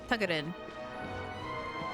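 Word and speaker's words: Тугарин: That's why I really like Tugarin, which is how you say it in Russian, is Tugarin.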